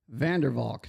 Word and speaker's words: Vandervalk: And our guest today is Lewis Vanderwalk. Did I pronounce that right?